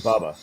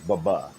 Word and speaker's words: Baba: And by the way, that was his name, Baba, with the hard second syllable. Baba wasn't Bubba, it was Baba.